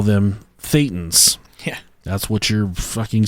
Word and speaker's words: Thetan: Is your Thetan. Or, like, it's Satan with a lisp is how it's pronounced.